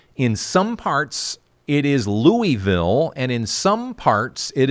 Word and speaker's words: Louisville: Louisville, Kentucky. And that's how you say it, by the way, folks. It's not Louisville.